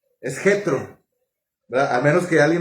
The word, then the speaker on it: Jetro: Muy Yetro, no es Yetro, nosotros la J no la pronunciamos así. Es Jetro, ¿verdad?